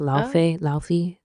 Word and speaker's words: Laufey: Laufey. It's not Laufey, but I read it. When I see it, I just see Laufey.